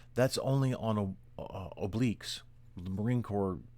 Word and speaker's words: oblique: give forward march that's only on a uh obliques the marine corps pronounced well the military pronounces it oblikes uh but the actual correct pronunciation is oblique